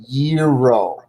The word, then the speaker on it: gyro: gyro but it's not it's actually pronounced gyro a gyro oh okay I asked